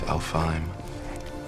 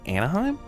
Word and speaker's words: Alfheim: It's Alfheim. Vanaheim. Did he just say Anaheim?